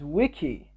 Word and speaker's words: Zwicky: in 1932 the scientist fred zwicky noticed that the zed is silent okay in 1932 the scientist fred's wiki while he was studying